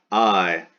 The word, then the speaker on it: ae: So we have poeta, I, masculine, poet. This is the dictionary entry, where poeta is the nominative singular, ae pronounced I, that's the genitive singular,